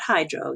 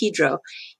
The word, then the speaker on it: Hydro: So this division is called Hydro, not Hydro. They pronounce it Hydro.